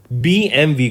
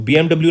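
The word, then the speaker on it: BMW: Next, name the person जिनको appoint किया गया president and सीईओ ऑफ बीएमवी group, बीएमडब्ल्यू नहीं बोलते हैं स्टूडेंट्स, इसको बीएमवी प्रोनाउंस करते हैं, राइट। लिखा बीएमडब्ल्यू जाता है बट इट इज बीएमवी, करेक्ट।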